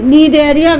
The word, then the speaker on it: Cnidaria: So Cnidaria, Cnidaria, where the word, the alphabet C is silent when you pronounce it, right?